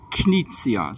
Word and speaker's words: Knizia: Well, the pronunciation is Reiner, Knizia, so it's a hard K.